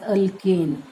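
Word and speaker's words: alkene: असेल तर त्याला के, आता इथे काय असतं अल्के ANE हे लक्षात ठेवा स्पेलिंग, त्याला म्हणतात अल्केन, ए असतो. जर डबल बॉन्ड असेल तर त्याला म्हणतात अल्कीन, इंग्लिशमध्ये ई असतो बघा. आणि जर ट्रिपल बॉन्ड असेल तर त्याला अल्काइन म्हणतात, अल्काइन वाय, म्हणजे फक्त एकाच लेटरचा फरक आहे.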